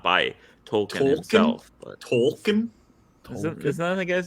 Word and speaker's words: Tolkien: I mean, this is not by Tolkien himself. But... Tolkien? Isn't that the guy's name? The author? Tolkien, yeah. I've just never heard the L pronounced that hard.